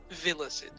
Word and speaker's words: Villicid: Villicid. Like it's pronounced. It's spelled with all I's, but imagine Thanks. like villa is in the Roman villa with Sid on the end.